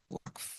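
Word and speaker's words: waqf: Centuries later, the University of Suri in Timbuktu, Mali was financed through WAF, pronounced W A KF, WAC.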